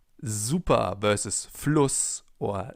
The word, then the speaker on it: super: That's why it's called Bienen S, because it's pronounced Z, as in super, for example, or sehr.